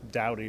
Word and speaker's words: Doughty: And Pete, you're playing tonight with Mike Doughty. People pronounce it different ways. I think it's originally Doughty, but it's been Americanized to Doughty.